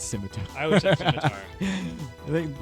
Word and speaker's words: scimitar: It's definitely not Skimitar. It's scimitar.